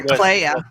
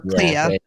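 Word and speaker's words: Kleya: Clea or Clea, whatever her name is. Yeah, it rhymes with Leia.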